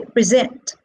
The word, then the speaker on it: present: Now, these are verbs, and 2-syllable verbs are stressed on the second syllable. So we say present, conserve.